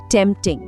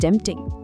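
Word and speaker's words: tempting: और इस आखिरी फ्रेज की प्रोनाउंसिएशन पर खास ध्यान दीजिए। टेंपटिंग। That sounds टेंटिंग।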